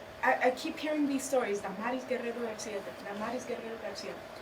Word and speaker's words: Damaris: Well, you know what glamorous rhymes with? Damaris.